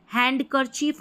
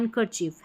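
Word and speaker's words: handkerchief: Silent है ठीक है इसको भी हैंडकरचीफ नहीं पढ़ते हैं हैंड हैंकरचीफ हैंकर चीफ यहां पर देखिए उच्चारण दे रखा है।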